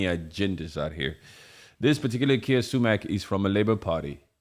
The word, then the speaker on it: Keir Starmer: His name is Keir Starmer.